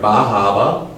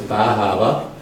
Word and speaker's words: Bar Harbor: We started off, everybody met down here in Bahama. That's how that's pronounced. It looks like Bar Harbor, but it's Bahama.